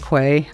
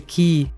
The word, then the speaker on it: quay: I love the word quay I know it's not Quay but that's how it's spelled and I love that word but it's a key the first time ever